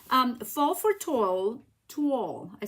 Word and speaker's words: Toile: It kind of rhymes with wall and then you say to.